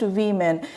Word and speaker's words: women: ऐसे ही, woman and women, this word is pronounced women.